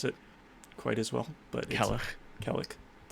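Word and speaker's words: Cailleach: Sadly, I'm not able to pronounce it quite as well, but Kellich. But ACH would be a huh. So Kellich. But yeah, I think.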